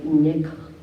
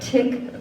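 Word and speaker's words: Thich: word today is by Nick hot Nick I gotta get it right tick not Han but it's spelled very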